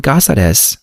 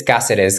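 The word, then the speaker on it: Cáceres: In Spanish, it's Caceres because it comes from a city in Spain named Caceres. But usually in English, I'm just like Caceres.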